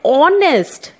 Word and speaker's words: honest: a and honest man here again it is silent and it sounds like honest so as it is